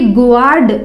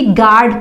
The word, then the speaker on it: guard: तो एग्जाम्पल देखिए, इसे जैसे हम क्या पढ़ेंगे GUARD, तो इसे गुआर्ड ना पढ़कर इसे हम सिंपली गार्ड पढ़ते हैं।